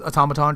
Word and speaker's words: automaton: And I kept calling the movie Automaton, but it's automaton.